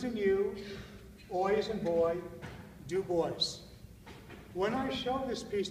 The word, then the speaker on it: Du Bois: own hand from the grave tells you to pronounce his name you as a new boys and boy do boys when we show this piece to people ordinarily